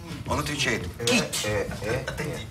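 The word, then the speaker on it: кіт: He replies, "KIT”. I asked him, how is “whale” pronounced then?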